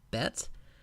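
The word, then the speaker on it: בית: the Hebrew alphabet is a Betts sounds like the English bee you'll notice that the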